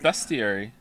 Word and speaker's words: bestiary: Is that not how it's pronounced? No, it's pronounced bestiary.